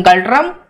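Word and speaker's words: Ngultrum: Fine, इसकी capital है Thimphu, okay इसकी करेंसी है गल्ड्रम, गल्ड्रम, ये जो एन है उसको साइलेंट रखा जाता है बेसिकली, और इसकी प्राइमरी लैंग्वेज जो यहाँ पे बोली जाती है वो है जोंखा, राइट जोंखा।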